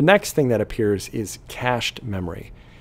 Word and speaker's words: cache: The next thing that appears is cached memory. Cache is pronounced just like money, C-A-S-H, just spelled a little differently, isn't it?